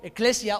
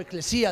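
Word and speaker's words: ἐκκλησία: Y en la palabra iglesia, del griego eclesia o eclesía, depende cómo lo pronuncies, significa literalmente asamblea o reunión.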